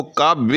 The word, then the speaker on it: کعبے: ہے، تو آپ نے اس کو کعبے کا منظر اس طرح سے بے کو لمبا کر کے پڑھنا ہے، یعنی فعل کے